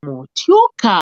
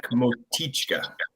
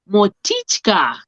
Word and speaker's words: Motichka: shows live with Amanda Murray and Motioka. How do you say your surname? It's Motichka. Motichka. Which language is that? It's Czech, but it's definitely a few generations ago.